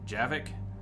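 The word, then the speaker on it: Javik: damage for that huh javic is that how you pronounce his name I it is pronounced that way in the game javic but the game is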